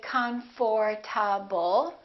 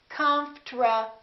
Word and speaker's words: comfortable: how to do it we don't say comforable this is what happens the O disappears but then there's one more very strange thing that happens and that's the RT becomes a TR they change positions listen comfortable comforable comfortable I'm very comfortable most Americans pronounce it like that all right now let's